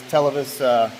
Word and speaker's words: Televes: Got this Televes, that's how you say it, antenna.